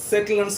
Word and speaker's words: settle: இந்த வார்த்தை எல்லாமே you have to give stress on the first syllable.